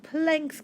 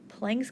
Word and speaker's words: Planck: this one is called planck's constant and it's not plank like a board of plank after the guy so it's spelled a little bit differently but planck's constant is